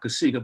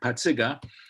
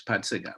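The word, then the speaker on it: Pacyga: and and everybody knew how to really pronounce my name which is not casigo but patziga and uh and and even the mexican kids know me as potsiga because that's what everybody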